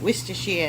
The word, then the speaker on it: Worcestershire: And that is the correct way to say it, Worcestershire in a Boston accent.